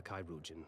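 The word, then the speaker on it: chirurgeon: him inside and into the care of a kairujan without delay kairujin how many words have been have I been pronouncing wrong dad nabbit oh we were so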